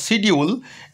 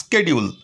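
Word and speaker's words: schedule: আগে বলতাম সিডিউল। এখন মার্কিন ইংলিশের দৌলতে এই শব্দটা গেছে স্কেডিউল মানে রুটিন।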